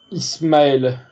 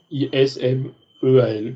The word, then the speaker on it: Ismaël: Lui, c'est Ismaël. Ismaël. Ismeal, comme ça se prononce.